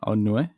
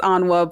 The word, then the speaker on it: Onua: Here's Onua. That's how you say it, right? No, it's Onwa, but it's cool.